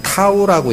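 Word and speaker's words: τ: 그리스 문자인 알파벳의 T가 영어로는, 그리스어로는 타우라고 읽어요. 타우.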